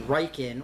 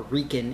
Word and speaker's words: RIKEN: derived in Japan at what is called the riken or Rin Institute depending on how you want to pronounce it and uh basically after all of